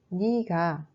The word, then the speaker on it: 네가: Mais on prononce 니가, 저, 제가.